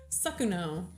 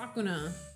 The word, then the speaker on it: Sakuno: I read his name and I always want to say it like JJK. It's Mr. Beast. Sakuno. Sakuna. I always want to say Sakuna.